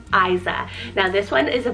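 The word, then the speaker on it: Ayza: So first off the bat, we have the name Isa, spelled A-Y-Z-A, Isa.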